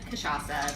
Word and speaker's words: cachaça: And for anyone who's just tuning in, you can probably guess, but we're making cocktails with cachaça, the national spirit of Brazil.